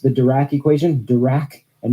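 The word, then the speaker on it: Dirac: for the large disparity by the way I pronounced the dur equation dur and not dck equation because I just can't help but think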